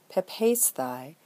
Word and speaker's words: πεπεῖσθαι: ending on, and then we add fixed accent on the second-to-last syllable, in this case, a circumflex, so it becomes πεπεῖσθαι, "to have been persuaded."